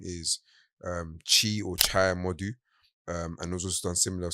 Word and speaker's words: Chimodu: And you can follow that page at Chai Modu, so it's spelled CHIMODU, and that's on Instagram.